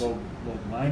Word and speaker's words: Lobliner: Lobliner. You pronounced it perfectly.